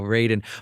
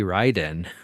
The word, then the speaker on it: Raiden: is that you know raiden but like even from the original game they have always pronounced raiden wrong right it should be ryden but like no matter